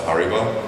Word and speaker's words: Haribo: post on his Instagram of us at the Haribo factory. And I was like so excited to be there. And when I was coming to Bonn, I didn't realize that this is the home of Haribo. Am I pronouncing it correctly?